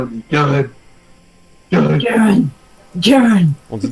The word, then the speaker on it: Garen: On dit pas Garen, on dit Garen.